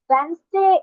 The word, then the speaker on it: Wednesday: ওয়েডনেসডে, হ্যাঁ, ডি এর উচ্চারণ করা যাবে না, ডি এর উচ্চারণ বাদে আমাদেরকে বলতে হবে ওয়েডনেসডে। ওয়েডনেসডে, ওয়েডনেসডে is the middle day. Work and smile along the way. Wednesday is the middle day.